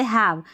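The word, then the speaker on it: have: Last वाला जो इ है ना ये साइलेंट है। जैसे हैव यहां पर हम हैव की स्पेलिंग लिखेंगे तो एच ए वी नहीं लिखेंगे। वी पे कोई भी स्पेलिंग एंड नहीं होती है। तो हमको ई लिखना पड़ेगा।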